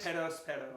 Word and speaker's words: Perospero: So what's the correct way to say it? Perospero. Perospero. Because the whole deal is you're doing like the tongue thing.